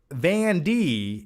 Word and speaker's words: Van D: Vanny Dick says, my name is pronounced Van D. It's Dutch.